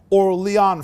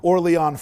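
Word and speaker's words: Orléans: from a city called Orlon France. It's written like Orleans but it shouldn't be trans it shouldn't be pronounced as New Orleans. I think it's more like Orlon France.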